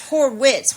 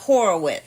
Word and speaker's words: Horwitz: it's Horwitz without Horwitz. not Horowitz.